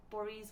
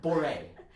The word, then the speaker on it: Bourrée: So I'm playing the Bach Cello Suite number 3, Boris 1 and 2. I actually don't know how to pronounce the word. I have never learned how to pronounce it. That was great. Yeah. It's Boré.